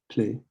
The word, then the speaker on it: plaît: S'il vous plaît. You don't pronounce the T.